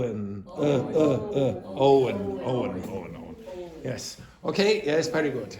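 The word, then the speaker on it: Eoin: What is the name of the director? Ian? No. Owen. Owen. Oh, no. Spell it. E. No. O. You always get it in the wrong order. You always go E-I-O-N. You understand? E-O-I-N. Okay? Owen. Not.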